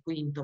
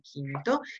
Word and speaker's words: quinto: scritto con la C, quinto, pronuncia non è quinto ma è quinto, sesto, settimo, ottavo, noveno e decimo.